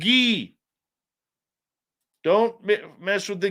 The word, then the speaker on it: Guy: It's Gee. Don't me mess with the ghee, man. Foyer. Proper pronunciation, plain and simple.